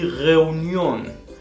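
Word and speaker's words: Reunion: Die Reunión, la reunión, lo mismo, las sílabas separan el diftongo y hace que en este caso se pronuncie como se escribe. Reunión. Y estos son los diftongos, no hay más, son estos 4.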